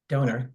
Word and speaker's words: Donner: The Omen directed by Richard Donner or donor depending on how you pronounce it um my name